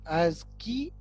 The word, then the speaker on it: ASCII: It is pronounced as ASCII, ASCII.